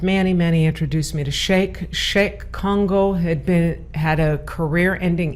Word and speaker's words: Cheick: No, pronounced like Shake Shack.